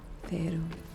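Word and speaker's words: Faerûn: Faerun.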